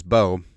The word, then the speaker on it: Bowe: And then you got Marcus Bowe, which apparently that's how he says that's how his last name's pronounced.